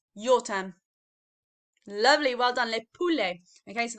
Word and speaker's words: le poulet: chicken my turn to le poulet your term lovely well done le poulet okay so that t sound on the end is silent okay we don't we